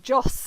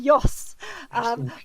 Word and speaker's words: Joss: I'm pronouncing it wrong, Joss. It should be Yoss.